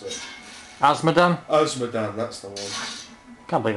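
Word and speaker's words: Azmodan: Agmadan, I can't pronounce it. Asmodan, that's the one.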